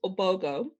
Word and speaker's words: Ogbogoh: well first of all my last name is obogo the h is silent i know um and